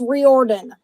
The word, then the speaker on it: Riordan: Olympians the Lightning Thief Rick Riordan Reardon I don't know how to say it it's pronounced Riordan Riordan all right you can